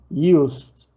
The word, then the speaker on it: used: Uno es irregular, broke, y el otro es regular, used. ¿Ok? Used. ¿Se dan cuenta cómo termino? Como si terminara con T.